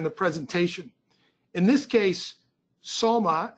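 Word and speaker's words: Sulyma: presentation in this case soma as that as the plaintiff pronounces his name is somebody who was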